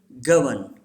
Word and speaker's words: govern: Say this word: govern. This R is silent.